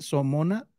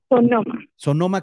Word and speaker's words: Sonoma: tu historia de Sonoma cómo se cómo se dice somona California verdad Sonoma California Gracias adelante bienvenida sí